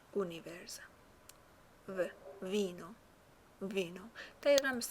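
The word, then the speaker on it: univerza: اونیورزا، اونیورزا. توجه کنید که یو تلفظ میشه، او تلفظ میشه. اونیورزا.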